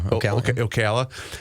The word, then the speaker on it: Ocala: And I got to is it pronounced Ocala? O yeah, Ocala.